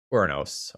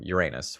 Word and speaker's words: Uranus: is descended from uh uranos or Uranus with the Roman pronunciation and there are some